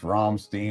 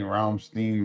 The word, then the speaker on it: Rammstein: I hear it pronounced both. Rammstein. Rammstein.